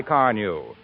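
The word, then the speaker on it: Carnu: Why don't you try Car New?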